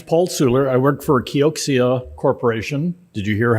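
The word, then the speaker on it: Kioxia: my name is Paul Sula I work for kyocsia Corporation did you hear how I pronounced that keoksia everyone always asks me um this is about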